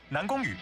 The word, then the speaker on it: Nan Gongyu: He's saying that with the very official Chinese accent. The official pronunciation. Let's hear that again. Nan Gongyu is an S-rank ether stun agent.